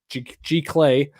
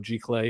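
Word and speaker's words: giclée: It's expensive, but it's big, and it's a G Clay. I know that Kyle would have my nuts in a vice if I didn't say it properly. So there you go, G Clay, and it's pretty big.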